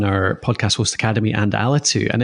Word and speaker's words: Alitu: It was 2 years ago we talked about, and then you haven't launched Alitu, or how do you pronounce it in Scottish? I say Alitu.